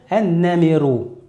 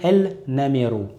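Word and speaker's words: النمر: Donc on va dire ash-shamsu ou le tigre en arabe, on va dire an-namiru. On ne va pas dire el-namiru.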